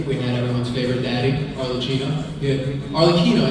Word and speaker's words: Arlecchino: We had everyone's favorite daddy, Arlecchino. Arlecchino. It's actually pronounced Arlecchino, we found out.